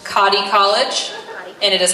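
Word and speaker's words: Cottey: armenta all right and next up this is pronounced cotti college and it is cotti college scholarship and it is also presented to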